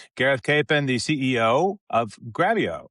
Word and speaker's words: Grabyo: This your podcast here with Gareth Capen, the CEO of Gravio, which rhymes with video cuz that's what they do, which makes sense to me.